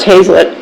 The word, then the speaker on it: Hazlitt: Okay, my last name is pronounced Hazlitt, by the way.